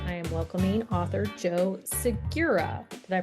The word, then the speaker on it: Segura: And on this author spotlight, I am welcoming author Joe Sigura. Did I pronounce that right? Yes. Sigura. Sigura.